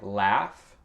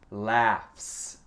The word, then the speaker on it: laugh: Mais le GH ici c'est un F.